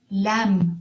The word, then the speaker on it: lamb: his limb when he fell off the swing lamb is another word lamb lamb which means a young sheep the farmer looked all over for the lamb the farmer looked all over for the lamb jam is another word not j m but